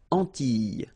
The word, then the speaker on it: Antilles: So final S and E, really you don't pronounce them. So you get this E sound. Antilles.